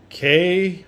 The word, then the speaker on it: Kobun: Okay, so today we're going to look at the cold steel Kobun, or ever how you say it, Kobun, whatever. Kobun.